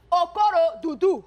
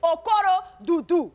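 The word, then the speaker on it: Okorodudu: Okurududu, how do you say that? Okoro-dudu. Nice, You know, nice, I'm nice. Haitian, so you know, Africans and Haitians are like cousins. So it's Okoro-dudu.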